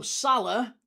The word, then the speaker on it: Salah: It's one, like, whereas Mo Salah, Salah is 2 syllables, right?